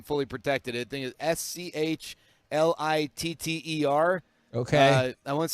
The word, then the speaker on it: Schlitter: where I am fully protected the thing is s-c-h-l-i-t-t-e-r okay I want to say it's Brian yeah